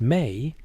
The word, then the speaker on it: me: The mi pronounced may were the fundamental decrees of the universe.